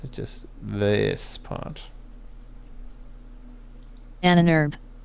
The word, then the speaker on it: Ahnenerbe: That's how you pronounce that in German.